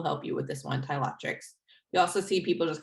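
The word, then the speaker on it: Ptilothrix: to pronounce this first it's a a silent p like in pterodactyl this is tyloctrix bombiformis um my my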